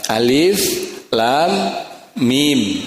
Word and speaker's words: Alif Lam Mim: tidak dinadakan itu membacanya jadi harus dibaca Alif Lam Mim ya lamnya panjang dan masuk ke dalam huruf mim karena Idam Mimi dan